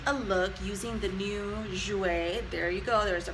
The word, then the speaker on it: Jouer: So I'm super excited because today I am doing a look using the new Jouer. There you go, there's the pronunciation.